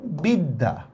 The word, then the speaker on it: বিদ্যা: এবার আসেন জফলা দিয়া, যেমন আমি লিখলাম বিদ্যা, দেখছেন দটাই আমি দুইবার উচ্চারণ করতেছি।